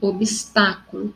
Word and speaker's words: obstáculo: Obstáculo, toda proparoxítona são acentuadas, tá? E sempre a sílaba forte está na terceira sílaba, contando da sua direita para a esquerda.